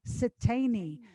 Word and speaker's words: Siteine: for tom e i n for nancy e pronounced satani velma hails from western samoa the samoan islands